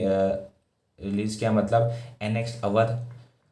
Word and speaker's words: अवध: Release किया, मतलब annex अवध जिसको हम OUDH अवध इस तरह से भी प्रोनाउंस करते हैं 1856 के अंदर, on basis of miss management.